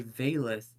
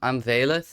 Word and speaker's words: Vaelyth: I'm here with, aka Vaelyth, and what I wanted to get in with her, and she's a trans streamer from the Netherlands, by the way.